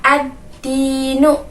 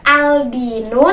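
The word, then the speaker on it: الدين: ada di depan lamnya jadi membacanya adalah adzi NU bukan Aldino tapi adzin uh Nah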